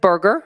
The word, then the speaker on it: Berger: Berger, spelled with a U, just like a hamburger.